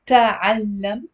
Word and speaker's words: تعلم: It's not تعلم, it's تعلم. It's two syllables.